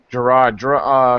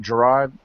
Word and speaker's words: Gerhard: Right now we're live with special guest Gerhard. did I pronounce that last name correct? Gerhard?